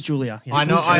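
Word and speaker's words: Giulia: Would that be what you would pronounce as Gulia? It was Julia.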